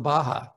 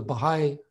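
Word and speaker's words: Bahá'í: we go to the baja because i was in momet so the baha'i temple we didn't even know how to pronounce it we thought it was the baja let's go down to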